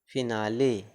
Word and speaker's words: finale: FINALE फिनाली, FINALE फिनाली मतलब अंत।